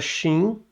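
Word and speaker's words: ש: Aí, depois do Resh aqui, nós temos a letra Shin, ó. A letra Shin, ok? A letra Shin, que ela é um CH. Okay?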